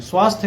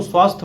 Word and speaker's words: स्वास्थ्य: हैं अनेक लोग सहस्त्र को सहस्त्र बोलते हैं स्वास्थ्य को स्वास्थ्य बोलते हैं पाठ्यक्रम को पाठ्यक्रम और निसंदेह को